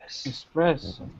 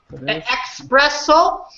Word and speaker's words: espresso: the X espresso but how do you say yes expresso espresso hmm ah espresso espresso samee trade your um s person yeah you gotta make sure when you have the ESS you're not really pronouncing to eat as special